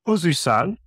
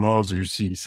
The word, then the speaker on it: Ozuysal: Today I'm here with John Ozuysal, which is probably the wrong way to say it, isn't it? No, it's actually a great pronunciation.